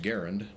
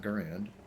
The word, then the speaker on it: Garand: It's supposed to be pronounced Garand, not Garand.